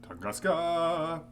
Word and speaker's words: Tunguska: Or as the chat said I should pronounce it, Tunguska!